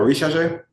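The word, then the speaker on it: Risacher: Come on, Rishache? That's how you pronounce his name?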